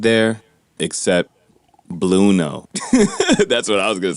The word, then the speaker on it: Blueno: I thought it was like Spanish, but whatever, right? Like bueno, like bueno. Bueno, like bueno. Very good.